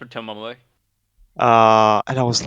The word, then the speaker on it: Tomoe: like, It's pronounced Tomoe.